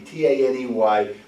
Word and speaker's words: Taney: Taney, T-A-N-E-Y, pronounced Taney.